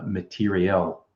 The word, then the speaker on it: materiel: And so I was actually working on a project to improve materiel. That's how you pronounce it. It's not like shirt material, IAL, it's IEL, materiel.